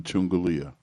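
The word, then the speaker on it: Chungulia: the brother's name is chungalia when you call just remember Chung Galia let me spell it for you c h u n g u l i a chungalia now we left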